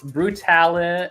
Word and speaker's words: Brutale: It's Brutale and like spelled like brutalities, and then Teas, and every tea was named after like a horror movie franchise or something.